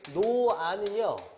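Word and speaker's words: 놓아: 일단 여러분 노아는요. 요거 제가 조심하라 그랬는데 발음상으로 노아 이렇게 나니까 쓸 때는 히읗이 쓰였는데 발음상으로는 히읗이 빠졌죠. 그래서 요거 뭐라고 저희가 한다 그랬냐면 히읗 탈락.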